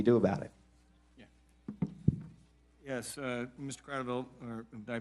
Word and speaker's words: Kratovil: Kratovil, or did I pronounce it right?